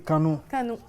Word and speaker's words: Canu: train de lancer un album Canu oui je prononce bien oui canou cet album était sorti au Burkina Faso le